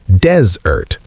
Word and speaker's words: desert: Yes, and desert as a noun is pronounced desert. The stress is on the first syllable, dez, desert, like the word dez with ert at the end. The e in the first syllable sounds like the E in the word get or set.